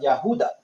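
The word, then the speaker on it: יהודה: like the descendants of the yahuda or Judah which is the true pronunciation of Judah they all fell in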